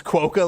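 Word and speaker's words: quokka: It's pronounced like it's spelled. Okay, so qua. Quo. Quo, like quota or status quo.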